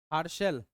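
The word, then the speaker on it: Herschel: खतरनाक होता है पढ़ो क्या इसको प्रोनाउंस किया जाएगा हर्शल है ना हरसल चलो ठीक है विलियम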